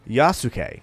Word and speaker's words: Yasuke: His name is Yasuke. Now, I looked up that pronunciation to make sure I got it right because it's important.